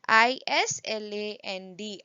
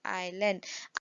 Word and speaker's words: island: called valleys next is island look at the spelling of island s is silent so it is i-s-l-a-n-d island island means the land